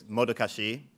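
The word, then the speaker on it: modocache: So it's modokashi. Some people pronounce it modokash. I'm fine with that.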